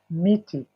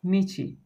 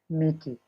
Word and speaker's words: miti: Mti is the singular. The plural is miti. Michi. Yes, miti.